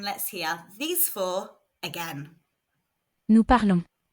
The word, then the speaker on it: parlons: Remember, the S on the end is silent, so it makes this. Nous parlons.